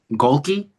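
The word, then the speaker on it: Gohlke: Golki.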